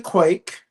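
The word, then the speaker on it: quaich: This is a Quake. Not spelled like Quake, but Scottish Quake or And this is from the Scottish Piper Pewer Company.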